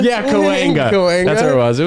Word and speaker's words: Cahuenga: I think it's Cahuenga. Yeah, Cahuenga.